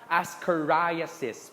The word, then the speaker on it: ascariasis: okay i assess another one how do you pronounce that dele ascariasis ascoria says please take note asses ascoria says amibayasis trichoracis